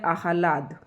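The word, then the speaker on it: आह्लाद: Next शब्द है अहलाद। तो अहलाद शब्द को आप कैसे लिखेंगे? है अह ला द इस तरीके से इसको उच्चारण करेंगे।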